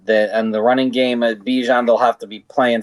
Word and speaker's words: Bijan: It's pronounced Bijan.